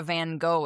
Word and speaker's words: Van Gogh: Because, you know, if you learn what a Van Gogh is, and I know I pronounce it I'm pronouncing it the American way, but whatever.